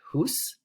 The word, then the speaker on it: hous: Here we have the word house, but we'd pronounce it hus.